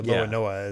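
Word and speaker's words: l'Olonnais: inspired by the pirate Francois Lolonois, or Loanoa as the Japanese would pronounce it, which I'm not familiar with that pirate.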